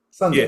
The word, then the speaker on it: SF3D: science fiction but the three is actually um pronounced as sun. So that's the the third number is sun D. Sunday.